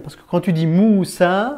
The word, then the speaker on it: Moussa: Un autre mot, un dernier mot, c'est le prénom Moussa. Moussa alayhi salam, c'est Moïse, d'accord?